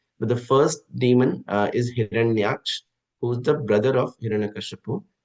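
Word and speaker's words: हिरण्याक्ष: The first one, I think in the commentary, Mataji was getting the pronunciation wrong, but the first demon is Hiranyaksh, who's the brother of Hiranyakashipu, and the second demon is Hiranyakashipu.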